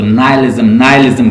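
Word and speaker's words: nihilism: English की pronunciation जो है इसको नाइलिज्म कहती हैं, तो आप इसको प्रोनाउंस कर लें जैसे आप कर सकते हैं आसानी से।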